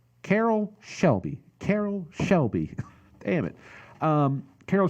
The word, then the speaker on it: Carroll Shelby: this movie and yeah he's kind of like Cheryl Kelly okay I keep saying it wrong Carroll Shelby Carroll Shelby damn it Carroll Shelby you know